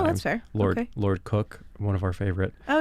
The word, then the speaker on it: Coke: Lord Cook, one of our favorite Oh, yeah. originalists. Whose name is spelled Coke, by the way. If you want to be cool, you call him Cook.